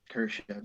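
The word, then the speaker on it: Kurashev: kurosha for whatever what's his how do you pronounce his name greg you were right kershav yeah so i know they're not going to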